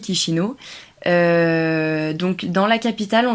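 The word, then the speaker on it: Chișinău: qui s'écrit Chisinau, mais qui se dit Chisinau.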